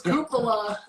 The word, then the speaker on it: cupola: that is absolutely correct i mispronounced it it is cupola thank you so much